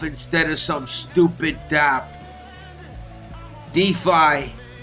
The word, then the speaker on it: DeFi: of some stupid DB defi rhymes with lie because it's all a